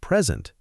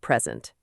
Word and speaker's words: present: All right, let's talk about our first key point, present, stress on the first part, pre-sent. This is super important. When we stress the first syllable, pre-sent, it's a noun.